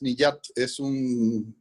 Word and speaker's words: Niyat: parece recordar que era, Niyat, ahora no tengo clara la pronunciación, y creo que también es uno de los pilares que en tus trabajos está siguiendo. Sí, y es correcta la pronunciación, es Niyat, sí, es un film